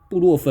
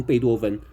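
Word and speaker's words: 布洛芬: 药的名字念错嘛，应该是布洛尼嘛，哎，布洛芬嘛，对不起，布洛芬，结果他念成贝多芬，哎，是布洛芬啊，不管是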